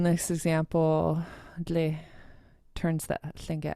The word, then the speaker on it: Tlingit: So when you spell Tlingit, Uh-huh. it's spelled Tlingit. But here it's spelled Lingit. Uh-huh. But when you say it, it sounds like Tlingit.